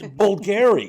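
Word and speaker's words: Bvlgari: of that watch maker that I never knew how to pronounce because it starts with a BV it's bulgary yes you know the things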